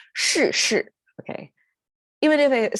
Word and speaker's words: 是: Okay, you see the two are curling tongue pronunciation, kind of when you have to curl your tongue, and they are both falling tone, so it is difficult. 是, okay, even if it